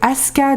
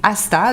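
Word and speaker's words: Ásta: Donc Aska de John Kalman Stephenson. C'est voilà. C'est Asta.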